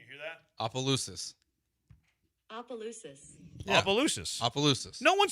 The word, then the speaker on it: Opelousas: No, you still don't have it right, but it's okay. It's pronounced Opelousas.